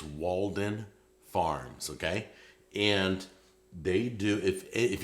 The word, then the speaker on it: Walden Farms: I want to make sure I pronounce Walden Farms. I used to say Walton Farms. It wasn't Walton Farms. I did that for years. It's Walden Farms, okay?